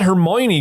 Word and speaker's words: Hermione: really needs to get off that pot that Hermione girl needs to it's bigger if you trim